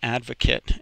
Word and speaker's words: advocate: one here is an advocate and you'll notice that it's pronounced kit instead of Kate now there's there this